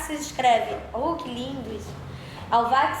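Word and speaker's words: Halbwachs: Alvax se escreve, que lindo isso. Alvax se escreve H-A-L-B-W-A-C, 2 L's não, Alvax.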